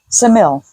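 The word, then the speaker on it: Ksamil: G okay the when we were in um samil I always mispronounce that no but that's correct pronunciation um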